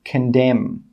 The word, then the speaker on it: condemn: The letter N is normally silent when it comes after the letter M at the end of a word. For example, condemn.